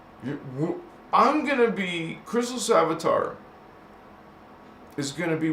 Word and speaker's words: Christos: This word is not Christ. It's Christos.